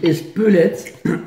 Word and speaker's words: Espelette: De squelette. On dit espelette et le piment d'espelette, on n'en achète pas, ça pique pas le piment d'espelette.